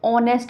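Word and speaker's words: honest: ठीक है, तो इसका क्या निकल रहा है, इसका वॉवल साउंड आ रहा है, एच इसमें साइलेंट है, तो ऑनेस्ट हमने पढ़ेंगे इसको, तो इससे पहले हम एन का यूज़ करेंगे, वॉवल साउंड से पहले हम एन का यूज़ करते हैं।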